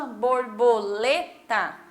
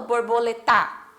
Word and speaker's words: borboleta: Ah, mas é o tá no final, mas eu não falo borboleta, certo? Eu falo borboleta. Então, quando eu falo lê, eu falo, né, até um pouquinho mais alto e aí eu volto para a sílaba tá. Então, borboleta.